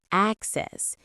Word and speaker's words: access: Access can be both a noun and a verb. In American English, the stress can move depending on the part of speech, just like abstract. As a noun, it's access, and as a verb, it's excess.